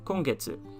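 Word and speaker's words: 今月: the kanji for moon or month would be kongetsu it means this month i'm going to skip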